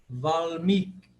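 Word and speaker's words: वाल्मीकि: Valmiki. Valmiki. Penúltima é tônica. Não é Valmiki, mas sim Valmiki. Valmiki. Porque o segundo I é longo.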